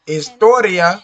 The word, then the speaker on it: historia: could be tricky right just as historia estoria because if you say it in english you're going to say history history you're going to say hotel